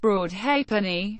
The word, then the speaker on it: Broadhalfpenny: The name, Broadhalfpenny, is properly pronounced Broadhalfpenny, a contraction following the usual pronunciation of the word for the halfpenny coin.